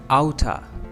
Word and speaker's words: out of: Now the second last word is out of. यानी outer. इसके pronunciation outer.